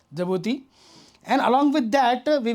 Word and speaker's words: Djibouti: along with the Djibouti, though it is starting with the D, but it is pronounced as Djibouti.